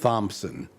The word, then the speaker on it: Thompson: A gratuitous H, a gratuitous P. I don't know. Who began that spelling? Yeah, I don't know why it's not pronounced Thompson. Yeah. And the P is kind of swallowed.